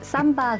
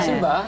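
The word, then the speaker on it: 심바: 근데 죄송한데 삼바가 아니라 신바입니다. 신바입니다. 네. 저 삼바는 약간 표현이 외국식 발음. 네. 신바.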